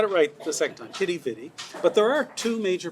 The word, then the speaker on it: Quidi Vidi: but you've got to write the second time kitty bitty but there are two major pronunciations here okay and one is quite a vida and the other is kitty bitty now most